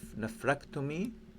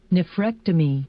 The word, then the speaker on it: nephrectomy: will be surgical removal of kidney and the pronunciation for the nephrectomy nephrectomy nephrectomy nephrectomy neomy okay let let me share